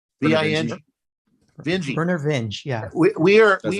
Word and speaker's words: Vinge: How do you pronounce his name? Vinge? V-I-N-G? Vinge.